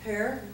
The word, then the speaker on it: Herr: I'm here with Herr, pronounce it Herr, Herr, and is a medical intuitive, and she's also an author, and there's lots more to tell about.